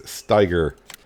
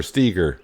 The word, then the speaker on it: Steiger: I've been waiting to get into it, but it's the STX Case Steiger, or Steger. Some people pronounce it Steiger, some pronounce it Steger.